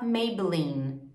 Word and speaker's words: Maybelline: gente tem uma consoante a letra é esse é mudo Então em vez a gente fala Maybelline Olha como o último só da letra N